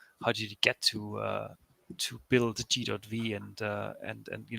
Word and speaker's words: G.V(): First of all, G.V is pronounced G.V. It could be sometimes a little bit confusing.